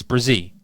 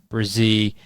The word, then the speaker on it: Bresee: I was calling him Bresee, but it's Bresee.